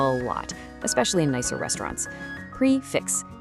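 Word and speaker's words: prix fixe: Prix-fixe. It's French, and you say it like prix-fixe.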